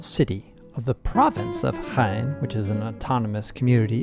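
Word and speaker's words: Jaén: the trip for sure we are here in chain that's how you pronounce it which is the capital city of the province of hain which is an autonomous community in andalusia spain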